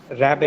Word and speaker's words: raspberry: Raspberry. Raspberry. Raspberry. Raspberry. Raspberry. Raspberry. Cure P is silent so it will be raspberry.